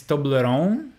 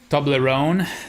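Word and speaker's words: Toblerone: a Swiss uh uh it's a Swiss cake I mean chocolate thing so if it's German then it's tobleron to to toon maybe I don't know tobleron that it it doesn't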